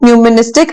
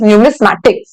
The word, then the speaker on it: numismatic: to pronounce it wrong it is not numistic it is numismatic now what is the